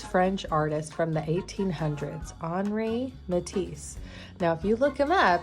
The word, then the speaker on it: Henri: artist from the 1800s, Henri Matisse. Now if you look him up, it's going to look like his name is Henry, but the French pronounce their names differently than we do here, and that's totally awesome.